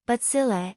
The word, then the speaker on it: bacilli: the stick-shaped crew imagine bacilli pronounced butzillae bacteria as a group